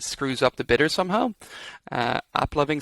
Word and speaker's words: AppLovin: So Applovin. That's how you say it. Not loving. So, there's no N there. There's no ing.